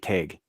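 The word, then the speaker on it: Tadhg: Like you take take like an old Gaelic man's name, Teg, for example. Okay. Teg is spelled Tadgh.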